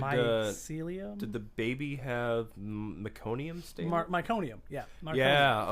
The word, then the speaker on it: meconium: Well, see, and that's the thing is, like, in the field, I think I'm pronouncing that wrong. Meconium. Meconium, yeah. meconium. I Yeah, always want to say mycelium.